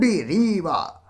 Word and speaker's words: Rimbaud: The composer of the poem Asleep in the Valley is Arthur Rimbaud. বানানটা এইভাবে করলে তুমি বানান লিখতে ভুল করবে না। RIMBAUD ARTHUR আর্থার RIMBAUD রিবা। ঠিক আছে, আর্থার রিবা।